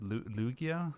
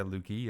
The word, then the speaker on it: Lugia: raichu and uh lu how do you pronounce it lugia yeah some people say lugia it's it's weird it's lugia i never had i never heard anyone say lookie i've seen youtube viewers